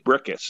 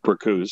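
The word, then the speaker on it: Bricusse: this podcast and that is lesie brius lesie brickus is his actual pronunciation of his name but a lot of people call him uh bruse so don't don't feel bad and uh he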